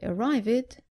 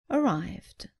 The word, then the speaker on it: arrived: not married but married don't say arve it say arrived don't say change it